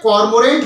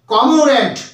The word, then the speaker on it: cormorant: না, উচ্চারণটা কি হবে, কমোরেন্ট। কেন হলো, দেখুন COMO এখানে আর যেটা রয়েছে সেটা কিন্তু সাইলেন্ট হয়ে যাচ্ছে, তাহলে COMORANT উচ্চারণটা আসবে কমোরেন্ট, এই আরটি কিন্তু উচ্চারিত হবে না, তাহলে উচ্চারণটা হলো কমোরেন্ট, কমোরেন্ট, কমোরেন্ট মানে হলো পেটুক।